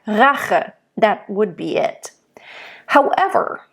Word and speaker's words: Rache: So you can actually roll when there is an intensity, like Rache, which means like rage, right? It's vengeance. Then you want to bring out that intensity by rolling the R, okay?